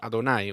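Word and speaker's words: יהוה: that is written as the tetragrammaton and pronounced adonai we become aware that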